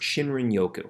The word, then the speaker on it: Shinrin-yoku: So forest bathing is actually a Japanese term, I'm going to hopefully not butcher this, but it's pronounced Shinrin-Yoku, which basically translates to forest and bathe.